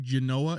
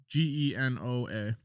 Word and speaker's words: Genoa: born in 1451 in genoa italy is that how he's pronounced that do you know like the salami g-e-n-o-a right genoa italy he started the exploration